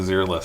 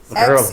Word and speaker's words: Xeriles: Xeriles. XER. Xeriles, the zero-less system. Okay. Think of it as being Greek, and it becomes a lot easier.